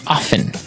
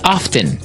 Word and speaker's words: often: people like to pronounce often right they kind of leave out the strong T sound while other people say often both forms are correct